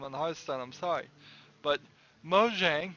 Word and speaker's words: Mojang: heistan I'm sorry but Mojang Mojang as it's pronounced in Swedish show his best I